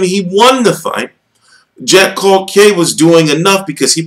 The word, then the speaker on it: Culcay: We're waiting because the thing is, Culcay is how you pronounce his name, from my understanding.